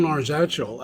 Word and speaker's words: Arzachel: I'm not even quite sure that the pronunciation of it. It's Arzachel, Arzachel.